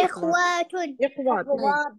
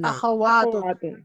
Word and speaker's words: أخوات: ہاں جی إخوات نہیں أخوات. اخوات. تلفظ صحیح کیجیے.